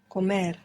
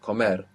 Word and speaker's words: comer: Comer. Accent on the end. Comer.